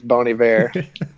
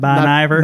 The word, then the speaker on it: Bon Iver: want to pronounce it I think it's bony ver and Ken what' you say on this one bony not Bon Iver not Bon Iver no not Bon Iver bony ver well done gentlemen what's